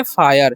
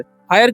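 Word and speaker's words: fire: पढ़ेंगे इसे हम पढ़ेंगे फायर फायर क्यों पढ़ेंगे क्योंकि आई का उच्चारण यहां पर आई हो रहा है ठीक है लास्ट वाला ई का उच्चारण नहीं हो रहा है ठीक है और इस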